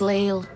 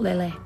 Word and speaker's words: Lille: into lilly station it's leel well it's pronounced lille not lily oh listen to you